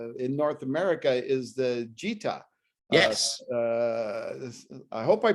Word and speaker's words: Gita: Well, Gennaro, another cool thing that you're selling here in North America is the Gita. Yes. I hope I pronounced that right.